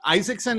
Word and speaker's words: Isaksen: for joining us today so this is Isaacson is that how you pronounce your last name that is how you